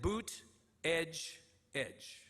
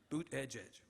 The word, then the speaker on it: Buttigieg: me aside beforehand and taught me to pronounce his name not as it read but a gig but phonetically Dave literally stood there with me and said boot Edge Edge boot Edge Edge Pete Buda judge was